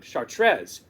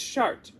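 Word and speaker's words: Chartres: something about that shards some people would call it chartrez but in French it's shart now for the immature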